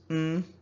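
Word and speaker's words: ntị: But when the N is assigned a high tone, it becomes Nti. Nti. Nti is ear.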